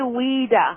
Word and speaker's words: Ouida: Well, thank you so much, Weda, for Is it Rita or Weda? It's actually Weda. It was O UI DA, but it would it's pronounced as if it's spelled W E D A.